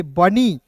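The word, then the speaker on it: bunny: तो न लिखिएगा और अंतिम में वाई तो इसका प्रयोग ई के रूप में करेंगे। बनी एफ ओ यू एन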